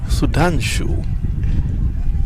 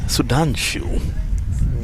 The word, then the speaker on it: Sudhanshu: Sudanshu. These guys have some exotic names. Sudanshu. Just 18 to get now. Rhymes with Vasu.